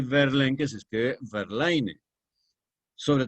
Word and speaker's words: Verlaine: escribe Baudelaire, Rimbaud, que se escribe Rimbaud, y Verlaine, que se escribe Verlaine.